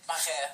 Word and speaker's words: Marais: How do you say that in French though? Marais. Marais. Marais swamp.